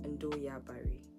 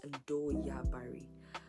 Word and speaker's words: Ndoya Bari: has this name, and the name is Ndoya Bari. That is how it's pronounced. Locally, it's pronounced Ndoya Bari, but then it's something that not everyone is gonna get.